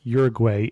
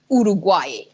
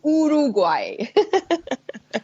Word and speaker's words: Uruguay: I did mention that I'm pronouncing this Uruguay and we talked about this ahead of time because that tends to be the English pronunciation if I was from there I would say it how Uruguay okay so with a o Uruguay so when you hear